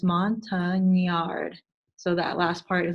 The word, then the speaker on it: Montagnard: it out it is a French word and it's Mon tongue in the yard so that last part